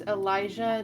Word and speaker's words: Elijah: And just to confirm, it's Elijah, not Eliza, It's Elijah.